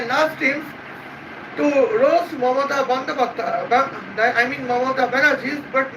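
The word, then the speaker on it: Bandyopadhyay: It is her English pronounced. Bengal pronounces Mamata Bandapatra.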